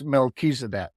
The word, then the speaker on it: Melchizedek: It's Melchizedek. Oh, I was not close at all. Yeah. Melchizedek is truly one of the lords of light in this universe.